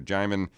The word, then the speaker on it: Jaimin: to see you thanks for having me it's jamin right yes am i pronouncing that correctly yeah all right we want